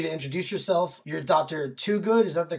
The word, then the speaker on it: Twogood: like for you to introduce yourself you're Dr to good is that the correct pronunciation right I'm Dr good I'm